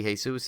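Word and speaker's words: Jesús: see I always get the back looks like Jesus - anytime I see it's written there I'll pronounce it Jesus when it's a Seuss and then when it supposed to be hey soos it's pronounced I can't wait but uh and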